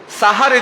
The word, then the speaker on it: সাহারি: সাহারি দিয়ে। শব্দটি সেহেরি নয়, শব্দটির উচ্চারণ হচ্ছে সাহারি।